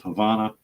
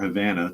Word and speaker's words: Havana: The plant's proximity to the capital of Havana, or Havana, depending upon your pronunciation, has left the city in the dark.